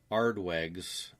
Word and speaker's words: Aardweg: Vanden Aardweig's book, Aardweig's, that's spelled Aardweg.